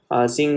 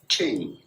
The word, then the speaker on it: Qing: This uprising overthrew the Qing dynasty. Okay, I don't know how to pronounce this.